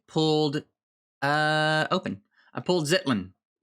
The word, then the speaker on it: Ztlin: i pulled zitlin i think i think that's that way you actually pronounce it uh is zulzen zolan all right so uh if you're gonna say his name to me you better say it like that or i'm not